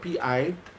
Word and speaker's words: Peter Obi: my Igbo brothers and the Igbo brothers who say Peter Obi, they spell it as one word, Pitobi, Peter Obi.